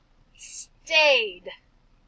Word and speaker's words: stayed: Stayed. I see that ED ending, but all we hear is the d sound.